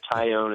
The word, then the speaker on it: Taillon: pronunciations you can do tyone is correct with a tie and you own it but uh over the